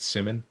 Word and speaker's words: Simon: up Rabbi Simon Jacobs like Simon but um he pronounces it Simmon I believe Uh yeah,